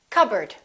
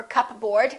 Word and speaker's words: cupboard: psychology psychic one more cupboard don't say cup bird or cup board say cupboard my kitchen cupboard silent s arkansas illinois